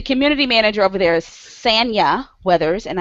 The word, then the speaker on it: Sanya: Okay, so the community manager over there is Sanya Weathers, and I didn't say it wrong. It is Sanya.